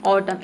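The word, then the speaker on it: autumn: इसे पढ़ेंगे हम ऑटम इसमें जो एन लेटर है ये साइलेंट रहता है ठीक है किसी भी वर्ड में एम और एन एक साथ आता है तो वहां पे एन लेटर साइलेंट रहता है एन को हम प्रोनाउंस नहीं करते हैं ऑटम का मतलब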